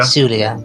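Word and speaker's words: Tsulia: Sulia, T silent. silent T.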